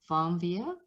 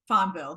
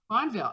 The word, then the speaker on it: Fonvielle: the next level today my guest is farmvia um I have someone from France fonvio yeah is that right fondville yep fondville oh simple like the E like mine is